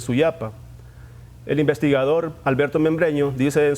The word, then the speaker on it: Suyapa: explicar un poco esto la pronunciación de este vocablo es soya para que más tarde se convirtió en suya para el investigador alberto membreño